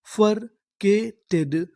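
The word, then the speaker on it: bifurcated: टड तो हमारी पूरी मीनिंग क्या बनी यानी बफरकेटेड बफरकेटेड बफरकेटेड बफरकेटेड का मतलब होता है बंटवारा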